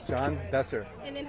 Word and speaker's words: Besser: say your first and your last name for me, Sure, it's John Besser. and then how do I spell that?